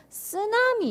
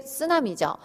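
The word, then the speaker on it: ツナミ: 그게 쓰나미죠. 근데 사실은 쓰나미가 일본어에서는 쓰나미가 아니고 쓰나미가 일본어에서 온 건데 쓰나미가 아니고 쓰나미예요. 쓰나미. 트 발음 납니다.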